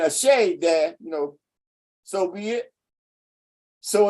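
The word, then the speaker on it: Àṣẹ: So you got Ashe. You got a dash there, but you ain't got to pronounce the dash. You say Ashe silently, give your breath.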